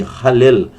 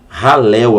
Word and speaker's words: Hallel: hino, é o chamado, me fugiu o nome, Hallel. Hallel, alguns falam Hallel, né?